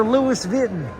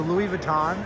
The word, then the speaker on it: Louis Vuitton: The Louiswis Vitten. That's how they say it in the south. Hey honey, we done won the lottery. Get in the pickup. We're going down to Louis Vitten.